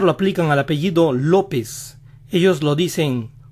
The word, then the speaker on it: López: el sonido de la o este estilo de pronunciar lo aplican al apellido lópez ellos lo dicen lópez lópez lópez también a josé josé y house